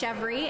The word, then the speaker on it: Chevry: So yes, it's amazing to meet another Canadian, first of all, and the last name is pronounced Chevry, and that's the New Brunswick pronunciation.